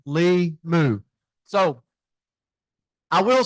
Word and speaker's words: Limu: It's Lee Jeans and Moo Cow, Limu.